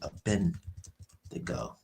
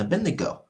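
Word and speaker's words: Abednego: Let me see. Abendo. Yep. I pronounced their name wrong, but yep. Shadrach, Meshach, and Abedneo.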